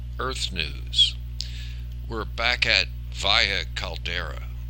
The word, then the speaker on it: Valles Caldera: We're back at Valles Caldera. I said Valles Caldera the last time, and the S is silent. It's the Spanish pronunciation, as opposed to Mars, which is Valles Marinaris, which they pronounce the S.